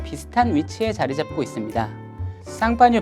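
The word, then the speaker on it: Champagne: 쌍파뉴 발음의 미국식 발음이 샴페인인 것인데요. 그렇게 작은 지역이 스파클링 와인의 대명사가 된 것에 대해 경이로운 마음마저 듭니다.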